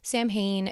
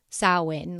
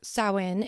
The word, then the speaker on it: Samhain: of people pronounce it Samhain it's not completely wrong but um if you want to you know kind of pronounce it like the Celts would it's closer to salwin like sow like a cow and and for those